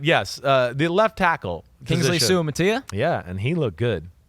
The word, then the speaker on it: Suamataia: Suamataia.